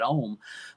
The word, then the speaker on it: Ohm: Original name of it, I called it Ohm, OHM, Right. just from the word home. I felt, home sounds so warm and cozy. I want a variation of that, so I did Ohm.